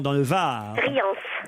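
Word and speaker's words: Rians: Vous êtes à Riant dans le Var. Riance. Riance. Ah, on doit prononcer le S, pardon.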